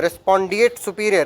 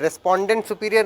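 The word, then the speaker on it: respondeat superior: Next question the maxim रेस्पॉन्डिएट सुपीरियर. रेस्पॉन्डेंट सुपीरियर नहीं, रेस्पॉन्डिएट सुपीरियर.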